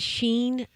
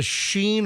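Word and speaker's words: Shein: Roxette you know I when I look at it I pronounce it Sheen it's s-h-e-i-n it's a website for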